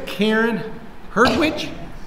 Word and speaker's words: Karen Hertwich: Today I've got a very special guest, Karen Hertwich. Yes. Did I pronounce that right? Yes.